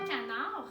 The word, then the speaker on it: canard: Alors, canard, il y a une lettre muette qu'on appelle. Ça veut dire que c'est une lettre qu'on ne prononce pas, mais qu'on doit quand même mettre à la fin du mot.